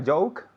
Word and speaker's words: joke: home bromma okay and joke has that j sound which is difficult it's tricky okay ju it's like a ch but softer okay okay joke